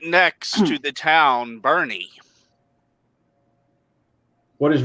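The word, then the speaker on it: Boerne: e r NE e but it is pronounced Bernie trust me I've been there and picked up so many times they pronounce it Bernie yep Bernie and right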